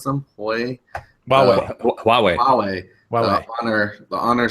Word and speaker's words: Huawei: And then, Hui, is that how you pronounce them? Hui. Huawei.